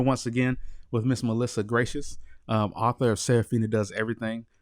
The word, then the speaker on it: Gratias: a s calm so my last name looks like grittiest but it's pronounced gracious so look me up